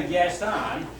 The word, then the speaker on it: Gaston: And she got it in my head, I couldn't think of the correct pronunciation. Yeah, Gaston is the way we always pronounce it.